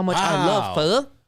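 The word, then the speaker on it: phở: No, pho. It's pho. It's not even. Oh, it's pho. Yeah, you got to say it right.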